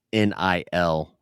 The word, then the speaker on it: NIL: the All Blue, All NIL. Ryan, Nil. That's how you pronounce that word.